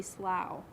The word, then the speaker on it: Slough: my best friend was shelby slough pronounced like plow she was stagnant dark